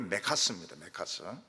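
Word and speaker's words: 맥아더: 그래서 메가드 발음이 메카스입니다. 메카스가 군인들을 데리고 철수를 못해요.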